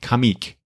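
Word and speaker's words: Comeek: comic that sounds weird comic is spelled c m e k kamic so any anyway they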